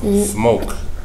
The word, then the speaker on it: smoke: oh what's this letter K silent letter e silent letter e so O Okay SM no smoke smoke yes smoke what's this word uh c